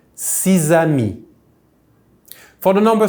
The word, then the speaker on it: six: We say six, like if that X was double S.